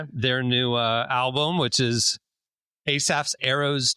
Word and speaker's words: Asaph: Go check out their new album, which is Asaph's Arrows 2.